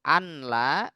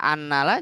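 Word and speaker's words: أَنْ لَا: Tapi giliran di asyhadu anla tidak anna karena ini di luar dari kaidah umum dengan istilah mukhaffaf, diringankan cara bacanya gitu. Kalau mau kita baca annala juga nggak salah. Cuma kan udah karena sudah sangat umum kita ngedengernya maka dibaca anla.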